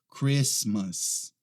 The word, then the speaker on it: Christmas: próxima essa aqui ó Christmas Christmas esse aqui não é Christmas a gente não pronuncia aquele e ele tá Christmas Christmas a próxima é esta